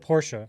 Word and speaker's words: Porsche: power of compound interest notice I said Porsche that's the right way to say it even though I feel awful every time I say it but yeah I I refuse I say Porsche this is just a